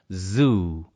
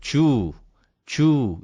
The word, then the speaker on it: zoo: 그래서 Z 발음을 잘 할 수 있다고 생각했는데 이 Z 발음이 초성 맨 앞에 올 때 예를 들어서 동물원이라고 하는 zoo, zoo 이거를 주 이렇게 하게 된다고요.